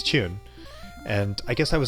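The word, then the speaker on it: 中: And usually in Japanese words, even if you use the Chinese reading, it's chu without the N sound at the end. But if you're playing Mahjong, which is a Chinese gambling game, even in Japan, you add that N sound at the end, so it's Chun.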